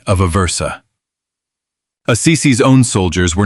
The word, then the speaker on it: Aversa: troops under a commander named Vitale of Aversa, pronounced Vitale of Aversa.